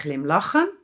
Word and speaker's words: glimlachen: Listen to the emphasis! "GLIMlachen" (to smile). Hmmmm, shouldn't it be "glimLACHEN"??? No! It is "GLIMlachen" in the infinitive.